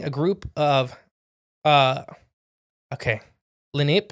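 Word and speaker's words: Lenape: group of uh okay lenp is how you say the tribe huh l n a p Len native American group I don't know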